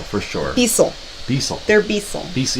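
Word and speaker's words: Beistle: They're Beastel for sure. Beasel. They're Beasel. Beasel. You don't pronounce the T? No, you don't. It's Beasel. Like Bissell. That's how you say it, Beasel.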